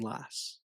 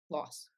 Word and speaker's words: Las Vegas: She was saying Lass. So I I don't know. it might just depend on our accents, right? Because I say Las Vegas. "Oh, I'm going to Las Vegas." Loss.